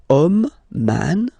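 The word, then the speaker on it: homme: okay and then here we get the word om man okay but then it starts with Ash as in French Ash is not pronounced so the first sound that we hear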